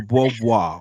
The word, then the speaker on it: Beauvoir: That's Beauvoir. obnoxious. Simone de Beauvoir.